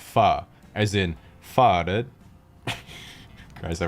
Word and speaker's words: Pho: after some type of pun involving the word foe fo sure foe ever fo true foe you etcetera but in reality the word is actually pronounced fa as in farded guys i waited four years